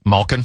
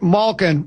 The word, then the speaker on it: Malkin: How do you pronounce his last name again? Malkin. Malkin.